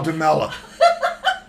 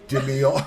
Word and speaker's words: Di Meola: Play with Al DeMella. And Al Jarreau. Don't forget him. What's Al's last name? Dimiola.